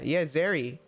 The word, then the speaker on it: Zeri: Yeah, Zeri. Zeri's really cute looking. Totally not totally not like her just because she's like green and her name rhymes with Perry.